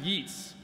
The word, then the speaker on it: Yeats: Yeats, which is actually pronounced Yeats.